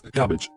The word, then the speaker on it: CABG: artery bypass grafting or cabg pronounced as cabbage a surgical procedure in